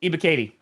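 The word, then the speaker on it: Ebiketie: Ibakete? Oh, Ibakati.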